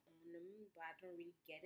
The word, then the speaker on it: On'em: I don't really know what it says on them, but I don't really get it. But it's by Nicki Minaj. On them, it's O-N-E-M, on them. Yes, I'm pretty sure that's how you say it.